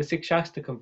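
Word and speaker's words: Shikshashtakam: I can't pronounce it. Shikastakam. Yeah, that's almost right. Yes, the Sikshastakam prayers.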